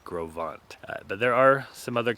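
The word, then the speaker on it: Gros Ventre: where we are right now which is called grovant looks like gross Venture but is pronounced grovant but there are some other campgrounds that are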